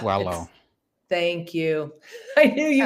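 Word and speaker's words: Paulo: So that was, I always say his name wrong. Paolo. It's Wallow.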